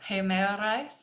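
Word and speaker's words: ἡμέραις: egeneto, de en tais, hemerais. Remember that little apostrophe going that way makes the ha sound, and the one this way doesn't. So hemerais, ekenias, exelthein dogma para Caesaros Augustu.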